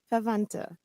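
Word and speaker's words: Verwandte: Now, this is messed me up because the W is usually a V sound, but then there's another V.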